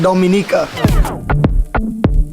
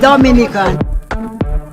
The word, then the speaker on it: Dominica: boom we call it Dominica yes the nature I love the Caribbean it's rum punch time oh we call it Dominica o-m-i-n-i-c-e it is not Dominican Republic it is pronounced Dominica and it's situated between